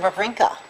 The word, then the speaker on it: Wawrinka: she was talking about Stan Wawrinka yes did I pronounce that right yes Frank I think so yeah that's pretty good w's turned into v's um but i'm not